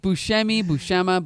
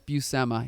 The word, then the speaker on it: Buscema: So you think Buscema, but no, it's Buscema.